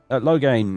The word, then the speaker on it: Loghain: Logan did. Loghain, even. Pronounce the name correctly, you fool.